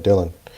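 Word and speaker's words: Dhillon: I think that's Dylan I think that's pronounced Dylan d-h-i-l-l-o-n Dylan uh vowed to quote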